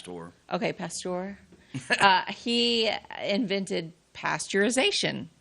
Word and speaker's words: Pasteur: It's Pasteur.